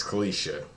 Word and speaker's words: Kicia: That's I I feel like we've already gone through this, but I just want to make sure I'm pronouncing your name right for this video. It's Kisha.